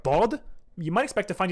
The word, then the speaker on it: ض: That's like the letter D but emphatic, with a constriction in your throat. Dhad?